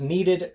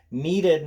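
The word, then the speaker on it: kneaded: you to was this needed great eraser needed not like you need an eraser in EE D know this is KN e ad the K is silent it's needed because it's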